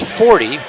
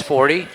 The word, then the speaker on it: Forte: It's pronounced 40. It's spelled f o r t e as inforte. We were at their place. They told me it was Forte. Now they're here. They're telling me it's 40.